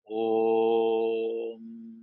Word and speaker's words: Om: will make Om, and the pronunciation of this Omkara, it is not ending with the M, but there is a nada after that bindu. Bindu is M, and after that the nada comes. Om.